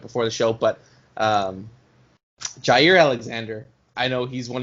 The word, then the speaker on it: Jaire: the show but um jair alexander i know he's one of your favorite packers currently um carlos can never say his name right it's always zaire alexander for some reason um but um you